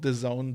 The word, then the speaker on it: DAZN: And by the way, I call them DAZN. They think they're called The Zone, but it's spelled DAZN in capitals. So they're either DAZN or DAZN. I refuse to call them The Zone.